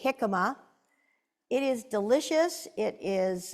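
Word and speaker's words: jicama: of you eat hikma it's spelled with a j j i c a m a hikma it is delicious it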